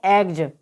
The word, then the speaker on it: eggs: EGGS। तो यहाँ पर वर्ड के लास्ट में डबल जी दे रखा है, उसके बाद में एस आया है, तो यहाँ पर एस का उच्चारण ज होगा। तो EGGS को हम क्या पढ़ेंगे? एग्ज।